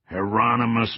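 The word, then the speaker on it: Hieronymus: Heronmous Bosch, he yelled, actually pronouncing it correctly.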